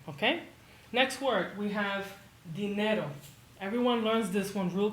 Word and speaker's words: dinero: The word is spelled dinero, but pretend it is spelled like this instead, and your mouth will have an easier time saying it. Dinero, dinero. Pretend you're saying the name Dean, like Dean Martin or the dean of the school.